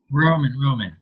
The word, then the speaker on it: Roman: Roman. Yeah, Roman. It's Roman, like Roman Empire.